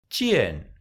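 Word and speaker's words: 见: Nó được phát âm giống như "z", dz, nhưng với mặt sau của lưỡi.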